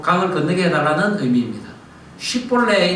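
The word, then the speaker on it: 쉽볼렛: 쉽볼레라 해봐라 라고 합니다. 그것은 꼭 강을 건너게 해달라는 의미입니다. 쉽볼레 이라면은 S 발음, SH 발음을 쉬 발음을 하는 자는 살려줍니다.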